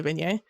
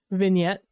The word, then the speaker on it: vignette: I feel like you don't like how I say vignet vignette. V vignette. Vignette double T means that it is pronounced versus vignet which only has one T.